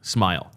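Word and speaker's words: Smael: Now, it is according to the beast pronounced smile.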